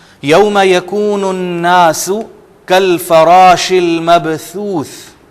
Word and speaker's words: المبثوث: یکون الناس کالفراش المبثوث۔ یہ دونوں ثا مبثوث، ان کو انڈرلائن آپ کر لیں، ان کے تلفظ میں آپ نے تھوڑی سی محنت کرنی ہے۔ المبثوث، المبثوث، یہاں پر عزیزان گرامی ایک چیز، ثا اور یہ جو سین یہاں آیا ہوا ہے الناسو، آپ کو فرق یہ نظر آئے گا کہ سین میں ہلکی سی سیٹی کی آواز آ رہی ہے، جبکہ مبثوث یہ سیٹی